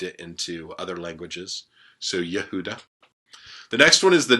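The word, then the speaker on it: יהודה: next one is Judah yahuda Judah there's no J sound in Hebrew that's come to us as we've kind of trans transliterated it and then and then moved it into other languages so yahudah the next one is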